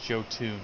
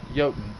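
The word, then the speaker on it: Jötunn: in Norse these yotan it's not from France jotoon it's pronounced yotan visa snores if you've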